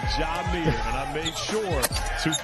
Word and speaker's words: Jamir: It is not Jamir, it is Jamir.